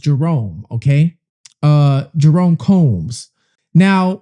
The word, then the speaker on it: Jeroen: Um, the individual, the person, his name, I believe, is pronounced Jerome.